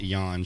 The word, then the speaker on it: Yonge: of the on street do you know yan street young street young why is it spelled like that it's why it's not GE is and my buddies at home we're gonna get a good cuz we call it yawn cuz it's funny to say that so it's young young